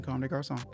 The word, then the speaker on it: Comme des Garçons: But today, even though I'm in Comme des Garçons, I decided to just spruce it up a little bit because we got a fashion I mogul.